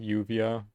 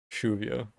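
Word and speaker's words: lluvia: like i guess in like columbia they would pronounce like the rain yuvia like it has a different sound and then like in in uruguay in spanish the double l sound has a sound so it's truvia it's a lot more karsh i guess a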